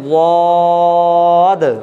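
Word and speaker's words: ضاد: তাহলে দেখেন এই অক্ষরটি উচ্চারণ করতে গেলে জিভের গোড়ার দিকের কিনারা ওপরের চাবালের 5টি দাঁতের গোড়ার সঙ্গে লাগাতে হবে, উচ্চারণটাকে লম্বা করতে হবে, সর্বশেষে একটা দয়ে হসন্ত উচ্চারণ আনতে হবে।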